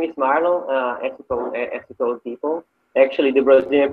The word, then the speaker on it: Marlon: Yeah, so my name is Marlon, ethical people. Actually, the Brazilian pronunciation is Marlon. My name is supposed to come from French, so it sounds French, isn't it?